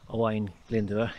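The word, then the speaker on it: Owain Glyndŵr: a few days ago hawaiian linda that's how you say it he was the i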